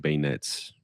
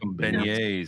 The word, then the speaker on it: beignet: So um I'm I'm very excited to try some bayonets. Is that how did I say it right? Beignet.